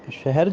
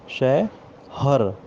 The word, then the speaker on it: शहर: तो इसी तरह से शहर जो है, पहले शह और र के उच्चारण में बोला जाता था। धीरे धीरे हमारे भारतीय जनमानस में वो शय हर बोला जाने लगा है।